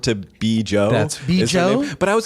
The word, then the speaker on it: Bjo: Is it Bjo? It is Bjo. It's Betty Jo, shortened to Bjo.